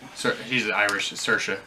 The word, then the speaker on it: Saoirse: in Florida started sir he's an Irish is Saoirse it's okay Saoirse Ronan for Little Women I